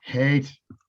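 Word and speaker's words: Haight: paying jolly west and then paying like the height ashbury clinic and stuff hate hate after after you told me how to pronounce the problem you got it stuck in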